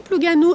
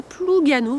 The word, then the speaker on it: Plougasnou: de 2024 alors ici pluganou s'écrit plugasnou mais ne faites pas ça ne prononcez pas le S vous prononcez pluganou voilà les gens seront